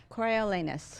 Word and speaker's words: Coriolanus: Coriolanus.